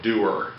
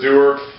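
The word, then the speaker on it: dewar: yourself one of these this is called a doer okay this is a doer uh it's spelled d-e-w-a-r if you want to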